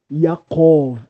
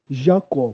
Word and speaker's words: Jacó: Por isso eu pronuncio o nome Jacó e não Jacó, porque no alfabeto hebraico não possui a letra J, ok?